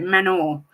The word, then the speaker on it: Manor: That's apparently how you say it, Manor.